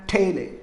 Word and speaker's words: taille: It is actually, the pronunciation is actually on the basis of French pronunciation it is. Tithe and taille.